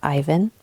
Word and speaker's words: Ivan: My son, Ivan, spelled Ivan, but pronounced Ivan, came into this world at the end of January, and everything changed.